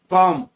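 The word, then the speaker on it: comb: Eighth में कॉम, इसमें B silent रहता है।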